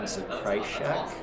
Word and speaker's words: Zakrajsek: Hello, I'm Coach Zakrajsek. Zakrajsek. Okay. Zakrajsek, and it's pronounced Zakrai, like you're crying. Shek, Zakrajsek.